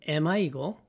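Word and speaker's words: Emma: 참고로 엠마의 영어식 발음은 에마이고 찰스를 프랑스어 방식으로 발음하면 샤를입니다.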